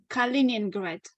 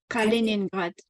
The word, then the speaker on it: Kaliningrad: What is the how do you pronounce the country's name again? So the city, Mm. the main city, it's called Kaliningrad. Kaliningrad.